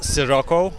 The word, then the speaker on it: Sirocco: It's Sirocco, like with an S, not with a she or C, or it's classic S, Sirocco.